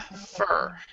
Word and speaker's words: photographer: wow photo so this one is photogra graer photographer and this one the second one is photography